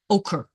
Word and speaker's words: ochre: was put away so yellow orc that's good very good Arley yes ochre ochre yellow ochre yeah couldn't pronounce that at first making a